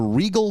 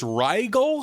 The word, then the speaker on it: Rigel: So they're getting flown to Regal 7. Would that be how you pronounce that? I think it's Rigel.